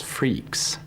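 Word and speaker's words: Freax: My name of choice was freaks. Uh f re e a x. Uh which was both the free and freak plus the x that you need to have for Unix.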